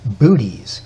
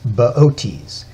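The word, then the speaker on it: Boötes: the lap of baotis if you saw his name spelled out you'd want to pronounce it booties but it's baotis he's got a big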